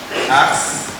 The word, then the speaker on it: ars: Mas é A, R e S. Não sei como se pronuncia isso, alguém sabe? Ars. É ars, né? Ars.